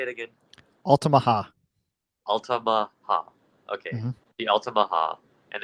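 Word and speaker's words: Altamaha-ha: the Alama how do you say it again alaha alaha okay the alaha and the creature is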